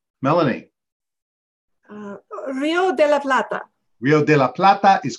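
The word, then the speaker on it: Río de la Plata: means silver River Melony Rio de la Plata Rio de la Plata is correct and boy was there controversy online on the show people were mispronouncing it like crazy a lot of people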